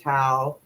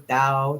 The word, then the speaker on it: Tao: I'm a proud Dudist, and a lot of it's based on the Book of Tao or Tao, depending on how you say it.